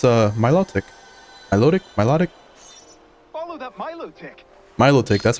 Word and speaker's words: Milotic: Milotic, that's how you pronounce it.